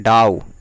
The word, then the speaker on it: dough: आटा को लोई बनाते हैं तब रोटी बनाते हैं, तो इसकी इंग्लिश होती है, लोई को हम लोग बोलते हैं डाउ, DOUGH, डाउ।